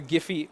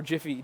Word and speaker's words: Giphy: So I've created an OpenAPI specification document for the Giphy or Jiffy, depending on how you say it, API.